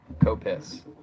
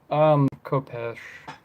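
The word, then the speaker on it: Khopesh: Within the proper pronunciation, besides the English Copis. Um, Kopesh.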